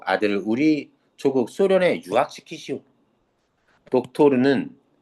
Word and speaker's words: 독토르: 독토르는 닥터를 닥터를 러시아 발음으로 발음한 겁니다.